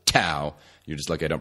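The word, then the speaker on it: TAO: is a nootropic called tau t AO some pronounce it Dow but I'm from Indiana so I pronounce it tau you're just looking at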